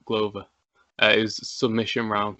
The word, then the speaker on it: Glover: Oh, it's spelled like glove, but Glover.